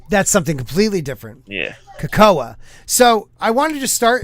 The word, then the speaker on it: Cahokia: So, has anybody here heard of, and it's pronounced Cahokia in Illinois?